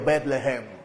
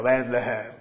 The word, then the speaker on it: Betlehem: Uno lo puede leer así como Betlehem. Así se pronunciaría como en hebreo, Betlehem. Para sonar bien hebreo, Betlehem.